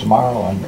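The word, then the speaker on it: Marlyn: name Su mhm and even though my name is Marlon it's spelled m a r l y n m and that creates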